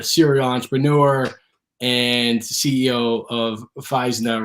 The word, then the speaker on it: Physna: Yeah, and by the way, everyone pronounces it Physna, but it's actually pronounced Physna.